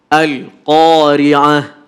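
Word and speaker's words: القارعة: Oke, kadang-kadang tanpa kita sadari, seolah-olah lam ini masuk, kita bacakan seperti huruf qalqalah sehingga bacanya begini. Al-Qari'ah. Kenapa harus ada pantulan? Salah itu. Padahal harus ditahan. Al-Qari'ah. Langsung. Al-Qari'ah. Oke? Tidak boleh ale.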